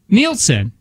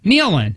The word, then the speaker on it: Nealon: dad on problem child is how you say his name Nealon Nielsen no no Nealon no no Nick Alan